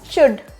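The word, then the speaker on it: should: ये भी क्या होगा शुड शुड में क्या है एल साइलेंट आ रहा है तो क्या हो जाएगा शुड शुड next one इज अगर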